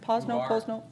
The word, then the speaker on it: Posno: Dennis Posno. Am I pronouncing it right? Posno? Okay.